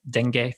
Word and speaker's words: dengue: getting dengue fever am i saying that right dengue yeah multiple pronunciations are acceptable but we'll absolutely accept that